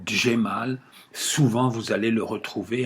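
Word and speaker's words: Cemal: Vous regardez comment ça s'écrit, Djemal, souvent vous allez le retrouver avec un D et un J, mais les Turcs aujourd'hui l'écrivent avec un C. Le C en turc se prononce Dje.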